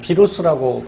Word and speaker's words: 바이러스: 녀석이 누구냐면 바로 이 바이러스죠. 뭐 비루스라고 발음하기도 하고요.